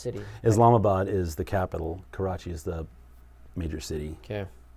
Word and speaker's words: Karachi: Yes, they Karachi? are. Is that how you say it? Karachi, yeah.